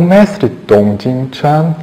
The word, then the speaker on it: Tung: Mestre Tung, vamos falar um pouquinho sobre ele. O Mestre Tong Jin Chan, que é a pronúncia correta, mas aqui no Brasil ficou conhecido como Mestre Tung.